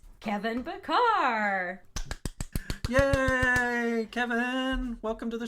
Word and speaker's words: Bachar: Isn't it Bachar, Kevin? Yes, it's Bachar. Yes, thank you. He said... Anyway. Man, I am winning at the day today. Right? We're both doing well. Anyway, it's Kevin Bachar.